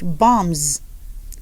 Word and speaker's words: bombs: And then sometimes when B comes after the M, the B is silent. So you stop at M. That's why you could have word examples like bombs.